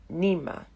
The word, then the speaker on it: Nima: Well, really, it's Nima. Mispronounced at school to sound like the middle of the word animal, or stretched like a whining Nima. No letter in English for the snarling sound that centers my name.